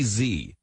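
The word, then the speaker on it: Xi: so throw up old some say Z I want to be cultured so somebody tell me is that Z or G but anyway I believe Ian Bremmer says G and he would know hmm so I'll go with G so they took down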